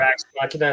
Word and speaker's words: Ex Machina: Or Ex Machina is how you say it.